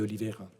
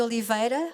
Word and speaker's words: Oliveira: le grand cinéaste portugais Manuel de Oliveira, que je prononce à la française.